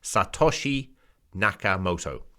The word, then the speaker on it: Satoshi Nakamoto: is satoshi kamoto moto i can't even pronounce i'm sorry it's obviously japanese pronunciation satoshi nakamoto uh and there's a